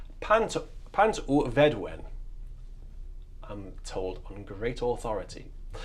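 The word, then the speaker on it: Pant-y-Fedwen: And it's the tune is pronounced Pant un Vedwen. Pant u Vedwen, I'm told on great authority.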